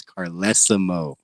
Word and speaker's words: Carlesimo: to pronounce my name it's carlesimo right wow sped and it's spelled carlesimo too yeah you know way